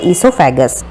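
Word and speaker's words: oesophagus: D stomach इस called ऐसोफागस शब्द में ओ साइलेंट होता है नेक्स्ट ही व्हाट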